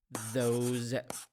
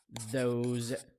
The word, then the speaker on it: those: a tip here the s in these words pronounced as as ze sound those those those these so we have this that those